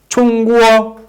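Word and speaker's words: 中国: it in chinese by pronounce it when you pronounce in chinese the words chungwoo in english you mean china you mean china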